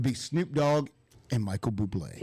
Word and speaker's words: Bublé: Because his name's Bublé. Right. Well, he was at some place, and they actually pronounced his name Bubbly. Right. Michael Bubbly. At least they didn't say booby.